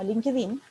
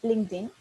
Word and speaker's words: LinkedIn: que es LinkedIn, o más conocido como LinkedIn, pero la pronunciación en inglés es LinkedIn, que es una red social laboral que nos ayuda a desarrollar algo que se llama personal branding.